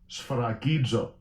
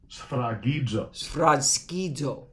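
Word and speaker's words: σφραγίζω: How's it pronounced in Greek? Strong's G 4972. Sphragidzo. Sphragidzo.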